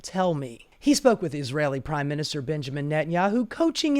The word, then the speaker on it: Israel: briefed in Israel by Israeli intelligence and sent back to make the case for Trump. By the way, Mehdi, it's not pronounced Israel, it's pronounced Israel.